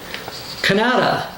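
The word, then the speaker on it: Kannada: down here in Indonesia Canada with a k k a an n a da a this is uh spoken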